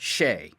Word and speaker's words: Hsieh: It's pronounced Shea.